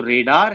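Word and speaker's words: radar: ठीक है ना, इसको रेडार प्रोनाउंस करते हैं, बट आप रडार भी प्रोनाउंस कर सकते हैं, depending from location to location, pronunciation थोड़े बहुत चेंज हो जाते हैं।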